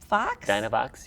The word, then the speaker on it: Dynovox: of you that I think I'm going to mispronounce it, but I'm going to try my best. It's a Dynovox? Dynovox, yes.